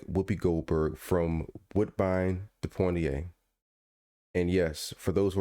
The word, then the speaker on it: Poitier: And yes, for those who are listening, I do put an N in Poitier's name every time I say it, even though it's not there. So disrespectful. Poitiers. Kind of like the Pointer Sisters.